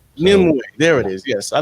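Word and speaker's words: Nimue: you um I've heard I've heard somebody pronounce it nimway nimway there it is yes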